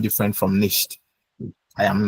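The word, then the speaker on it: nichts: So it's it's niched it's nish like nish plus s but because it's difficult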